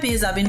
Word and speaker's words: মেহযাবি: মেহজাবিন জানালেন যাকে সবাই মেহযাবিন বলে ডাকেন আসলে তার নামের সঠিক উচ্চারণ মেহযাবি যেখানে শেষের ন উচ্চারিত হয় না মেহযাবিন বলেন শুরুতে হয়তো